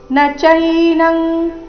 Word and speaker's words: ನ ಚೈನಂ: ಪಾವಕಹ ನೈನಂದನ್ ದಹತಿ ಪಾವಕಹ ನಚೈನಂಗ್ ಇಲ್ಲಿ ನ ಈ ರೀತಿ ನ ದೀರ್ಘ ಮಾಡಬಾರದು ನ ಚೈನಂಗ್ ಈ ರೀತಿ ಮಾಡಬಾರದು ನಚೈನಂಗ್ ಈ ರೀತಿ ಬರಬೇಕು ನಚೈನಂ ಕ್ಲೇದಯಂತ್ಯಾಪೋ ನಚೈನಂಗ್ ಅನುಸ್ವಾರದ ಉಚ್ಚಾರಣೆ ಕ ವರ್ಗದ ಅನುನಾಸಿಕದ ರೀತಿ ನಚೈನಂ ಕ್ಲೇದಯನ್ ಕ್ಲೇದಯನ್ ತ್ಯಾಪೋ